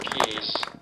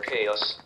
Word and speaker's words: Caius: been a fellow of ke or CH as my American speech synthesizer pronounces it for more than 40